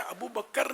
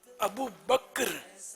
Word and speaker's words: ابو بکر: ابو بکر نہیں ہے، ابو بکر کاف ساکن ہے.